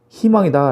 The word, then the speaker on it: 희망: 자, 문제를 보면 1번에 청소년은 우리의 희망이다 라는 겁니다. 희망을 위에서 했으니까 먼저 볼게요. 희망의 희자는 자음으로 시작되기 때문에 그때 의는 의로 발음하는 것이 아니라 이로 발음을 해야 된다라는 거. 그래서 희망이 되고요.